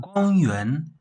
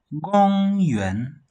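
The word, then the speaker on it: 公园: See, this is a high pitch. Then this one, it falls a little bit. So this one is a low pitch, kind of middle. Then it rises up to this point. Yes. Yuan, gong yuan. See? Yes, gong yuan. Then we have this first tone, then plus the third tone.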